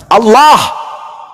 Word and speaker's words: Allah: Kalau menggunakan ejaan tajwid, maka bacaannya Allah. Tidak ada huruf O di situ. Ini juga kesalahan orang-orang yang membaca huruf Arab menggunakan kata huruf O. Tidak ada huruf O dalam bahasa Arab.